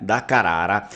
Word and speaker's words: Carrara: a família da Carrara Carara é uma pronúncia portuguesa né Se a gente for ver a pronúncia vêneta vai ser da Carara né dakara e o Italiano provavelmente ele vai fazer aquele r mais forte né da Carara e o Vêneto da Carara seria o mais adequado esses membros dessa